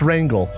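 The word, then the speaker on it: Rhangyl: F O R U Z A Rangle Farooza It's Rangle. Rangle Rang- It's like rangling.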